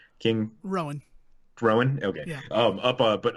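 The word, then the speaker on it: Rhoam: with rogue how do you say his name Rohan King Rowan Rowan okay yeah up up but up on the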